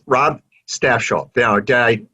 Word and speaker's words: Stafsholt: okay and it's rob staff shaw yeah did i pronounce that correct you did fine yep staff like the staff of people and shell okay very good um